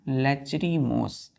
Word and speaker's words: lachrymose: लेचरी लेचरी LACHRY लेचरी MOSE लेचरीमोस।